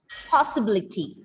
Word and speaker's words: possibility: you know the word possibility possibility possibility possibility um one two three four five you have to stress on the third last right yes possibility possibility